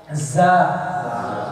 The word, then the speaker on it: ز: مجھے معلوم ہے اپنے بعض گجراتی جو ہیں ان کو ز کا تلفظ بہت مشکل سے آتا ہے. ز زکار کو جکار کہتے ہیں, کبھی کبھی جنت کو زنت کہہ دیتے ہیں سبحان اللہ.